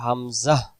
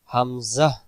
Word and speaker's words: হামজা: হামজা অক্ষর হলকের প্রথম থেকে শক্ত করে পড়তে হয়। হলক শব্দের অর্থ হলো গলা, বাংলাতে যেটা বলি গলা। যেমন আপনারা গলার নিচে হাত দিলে বুঝতে পারবেন, সে জায়গা থেকে হামজা উচ্চারণ হবে হামজা, হামজা, হামজা, হামজা, শক্ত করে আওয়াজটা বের হবে।